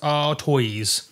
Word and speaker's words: Artois: Some people call it Stella Artois, but I'm pretty sure it's pronounced Artois, like a tortoise.